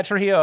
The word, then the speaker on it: Trujillo: He is incredibly awesome, and I didn't say his last name because I'm afraid to mispronounce it. Rafael, what is your last name? Yeah, Trujillo.